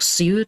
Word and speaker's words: Sioux: In 2016, the Standing Rock SEU tribe in North Dakota, SEU is spelled S I O U X, the Standing